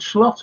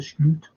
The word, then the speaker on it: Slot: And someone asked him, how do you pronounce your name? Is it Slot? And he went, no, it's Sleuth. That's how you pronounce his name.